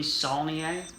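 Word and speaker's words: Saulnier: the first film by jeremy solnier i believe is how you pronounce his name and uh it's a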